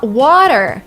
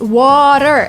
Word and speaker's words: water: And then water. It's water. It's not water. Water, it would be British. Water is what Americans say.